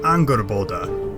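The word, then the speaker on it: Angrboða: and his giantess mistress anger bolda and yes i am pronouncing that correctly i checked and while he doesn't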